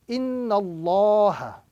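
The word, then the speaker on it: إِنَّ اللَّهَ: So the correct pronunciation in this particular formation is that we are now going to recite Inna Allah as opposed to Inna Allah. Inna Allah is the correct pronunciation with a round sound.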